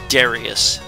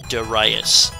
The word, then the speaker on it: Darius: And for the longest time, I kept pronouncing it Darius. It is supposed to be pronounced Darius.